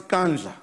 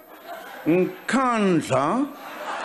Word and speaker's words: Nkandla: Some people who could not pronounce kandla, they've now learned nkandla, nkandla, nkandla.